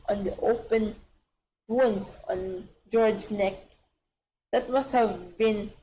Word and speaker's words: Fjord: It's FJORD. It's like Mjolnir, but okay. He thought of Jord, the first dragon Glorious